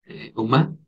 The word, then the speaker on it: uma: Uma, tal como suena.